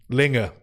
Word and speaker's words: Linge: Linge.